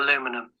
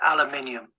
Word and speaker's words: aluminium: Yeah, this I think someone needs to go on Google Translate and ask it to pronounce aluminum cuz it's not aluminum, it's aluminium.